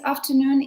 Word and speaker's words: afternoon: confusing in this case afternoon is picked as an odd because it is this ter t e r syllable isn't stressed so we have easy